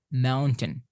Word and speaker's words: mountain: The stress is on the first syllable, so mountain.